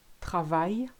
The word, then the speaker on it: travail: When you've got ILL, AIL, EIA, L, the L sound totally disappears. So listen to those examples. Vieille, aille, travail, famille, fille, soleil, Guillaume. I think you get the idea. You just replace it with a long E and you'll be fine.